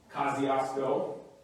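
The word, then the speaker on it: Kosciusko: from there it's like this place here uh kosciuszko um that is how you actually pronounce it so if you think i'm making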